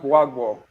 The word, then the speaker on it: Gbagbo: Okay, Bagbo Who? Bagbo in the Ivory Coast, Cote d'Ivoire. Okay. Oh, you mean Laurent Gbagbo? Gbagbo, yeah. Well, that's how you pronounce his name.